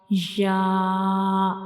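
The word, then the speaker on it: ي: ya has no dot, and ya is pronounced when we touch the tip of the tongue, when we touch the center of the tongue to the upper hard palate to pronounce ya.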